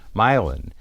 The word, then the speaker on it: Milan: called milin Ohio and milin is spelled like Milan Italy but it's called milin milin is a very